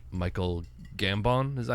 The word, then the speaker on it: Gambon: I really like Michael Gambon.